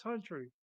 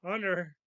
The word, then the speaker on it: Hunter: They have Travis Huntley. Mispronounced his name. Travis Hunter, Yeah.